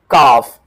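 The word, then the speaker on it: calf: गाय का बच्चा इज कॉल्ड अ काफ। काफ L silent रहेगा।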